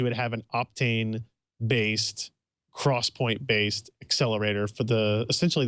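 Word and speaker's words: XPoint: about it so I should also call them Cross Point and not Point uh because I but they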